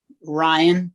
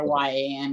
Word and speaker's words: Rhein: Oh, so you pronounce it Ryan? Ryan, just like Okay. Ryan. It Okay. just happens to be spelled Rhein.